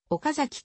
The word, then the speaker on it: 岡崎: 豆腐などがある共通語では岡崎と発音されるが岡崎市民をはじめとした地元民は彼は席と同じように岡崎と平板に発音する jr の駅の